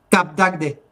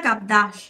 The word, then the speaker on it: Cap d'Agde: Cap d'Agde. ¿Cap d'Agde? ¿En Francia? Cap C-A-P de apóstrofe Agde. A-G-D-E. Que se pronuncia Capdash, ¿no? Sí, algo así.